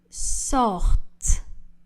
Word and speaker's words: sortent: Ils sortent. Le S de il n'est pas prononcé. Le ENT du verbe ne sont pas prononcés.